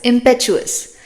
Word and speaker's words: impetuous: word we have is impetuous remember the t o u here is pronounced as Chu like the Jimmy Chu impetuous means that acts on